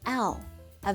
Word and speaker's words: ㄹ: letter R but in pronunciation it's closer to an L A very light l Raw Raw that's not it it is la la foreign let's practice